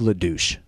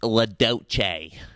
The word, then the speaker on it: LaDouche: Earlier, we were able to catch up with the head of the hazmat team, Doug LaDouche. So, Mr. LaDouche, what is it? Actually, it's pronounced LaDoce.